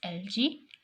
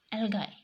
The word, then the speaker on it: algae: photosynthesis are bacteria and I and you may pronounce this word as LG LG L guy and organisms capable of photosynthesis are algae bacteria